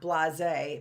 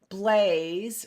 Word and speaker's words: Blaise: bought, which is by, not Blase, but isn't that funny, right? Blaze, right? Because as we learned in Early Bird, that E is silent.